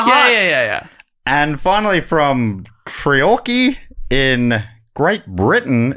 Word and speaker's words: Treorchy: Treorchy.